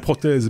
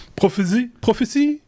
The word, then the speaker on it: Prophesee: Alors, j'allais dire prothèse, mais c'est pas prothèse, c'est prophétie, c'est un jeu de mots.